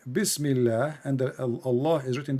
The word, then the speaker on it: Bismillah: You see the word in the top, it says bism li lah. Do you see it? This is the Muslim trying to teach you how to pronounce it, but for you speak Arabic, do not need it. But just for people to see. So in the first one in Arabic, it says here Bismillah, and the Allah is written differently.